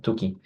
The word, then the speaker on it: Tukey: Yes, that's how they pronounce this one, two-key. So Tukey was a statistician.